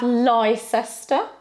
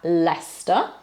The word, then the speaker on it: Leicester: Worcester and Worcestershire then we don't have life Esther we have Leicester and then this is